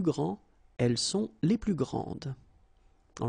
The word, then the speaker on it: grande: And regarding the feminine form, you will pronounce it grande. Okay, don't insist on the final but then pronounce this D, grande, and then exactly the same pronunciation, grande.